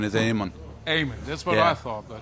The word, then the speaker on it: Eamonn: or Aon technically it's Aman yeah because the E is actually originally has an accent on it which makes it kind of Silent yeah so it is